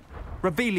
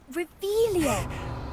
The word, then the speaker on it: Revelio: Revelio. You're saying it wrong. Ugh, Revelio. Much better.